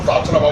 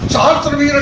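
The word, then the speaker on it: सहस्रबाहु: थे कैसे हम को शस्त्र भाव को मारा तो कह शस्त्र भाव नहीं था सहस्त्र वर कातीवीर अर्जुन था उसको मारा है शस्त्र भाव शत्र बाऊ उच्चारण गलत करते हो अच्छा वो उच्चारण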